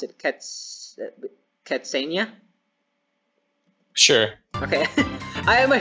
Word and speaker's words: Katzenya: forgot your name we have how do you pronounce it cats catsania sure okay i have my friend katzenya here